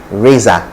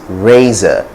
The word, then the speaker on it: razor: you're likely to hear razor vessel razor and raza okay and the raza is someone who destroys